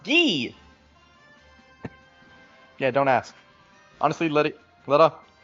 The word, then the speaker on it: Guy: His name looks and is spelled Guy, but apparently it's pronounced Gee.